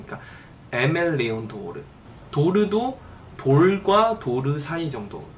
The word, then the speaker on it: Aimé Leon Dore: 그랬더니 이 아랑 에 사이의 정도의 발음으로 하는 것 같더라고요. 그러니까 에멜리온도르, 도르도 돌과 도르 사이 정도, 도르.